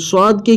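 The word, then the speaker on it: ث: তা সা এই সা অক্ষরটিকে আমাদেরকে বের করতে হবে একটু জিহ্বাটাকে দুই দাঁতের মাঝামাঝি কিছুটা বের করে রাখতে হবে এই সা অক্ষরটিতে তাহলে আমাদের এই সা অক্ষরটি বের হবে আর না তো আমাদের সিন উচ্চারণ চলে আসবে সা এর জায়গায় আমাদের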